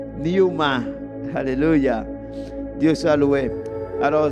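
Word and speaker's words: pneuma: En espagnol, c'est Numa mais la prononciation c'est Newma.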